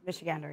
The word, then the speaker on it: Michigander: Michigander, yeah.